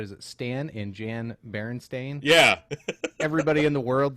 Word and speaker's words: Berenstain: And he said, just like you did, Bernstein Bears. Go ahead, pull that up. So here are several images of actual book covers Yeah, how of the would you pronounce that? Berenstain Bears.